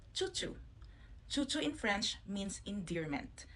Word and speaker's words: Chouchou: So I think if it's French who will pronounce it, it much sounds very fancy. But like me, if I say choo choo, it's kind of like a choo choo train.